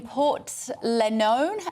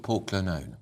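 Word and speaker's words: Portglenone: picture from Charles in Port lenon in Northern Ireland if I pronounce that right I would call it Port Glennon Port Glennon sorry yeah Northern Ireland I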